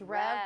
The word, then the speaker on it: Rev: then what about I don't know how to pronounce this one it's r v rev it's rev Brewing which is right next matter yes it's